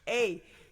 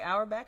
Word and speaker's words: Auerbach: Auerbach. Right. You can say Auerbach or you can say Auerbach. Apparently, he doesn't He care. does I've both. asked. Yeah, he says both.